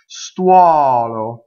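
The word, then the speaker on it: stuolo: Sstuɔlo. So we have an open O. Most words in Italian that have U-O are going to open.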